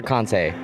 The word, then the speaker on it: Kansei: Yeah, actually, how do you say it? Kansei or Kansei? I say Kansei.